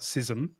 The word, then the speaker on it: schism: Well, the Greek word is schism, right? It's not it's not sism. Uh it's it's pronounced both ways in English.